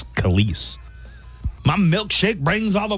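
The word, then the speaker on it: Kelis: all I thought her I thought it was Kellis honestly I went up this entire time thinking her she pronounced her name Callis it's kise my milkshake brings all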